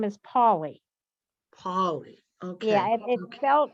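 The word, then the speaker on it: Paoli: to me what's his name his name is paulie paulie okay yeah it felt italian p-a-o-l-i but pronounced paulie okay all right okay well that's what i'm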